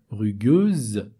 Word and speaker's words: rugueuse: Quand un S se trouve entre deux voyelles, ça donne le son Z, rugueuse, rugueuse.